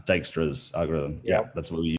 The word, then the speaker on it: Dijkstra: if i missed out yeah i think it's pronounced dijkstra's algorithm yeah that's what we've got time now